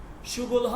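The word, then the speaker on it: شغل‌ها: এটা আমরা পরে জানব সুগল হ মানে হচ্ছে কাজ সমূহ বা পেশা সমূহ আমাদের পেশা কি একটা মানুষের পেশা কি থাকে কাজ কি থাকে এটার উচ্চারণটা কি হবে সুগল সুগল হ সুগলহ সুবল ওকে কাজ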